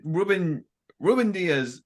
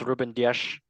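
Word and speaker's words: Rúben Dias: I mean, player wise, as a football fan, Ruben Diaz is probably better than. Pronounce Ruben Dias.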